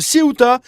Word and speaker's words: Ceuta: Donc Siouta, j'ai jamais eu l'habitude de prononcer comme ça.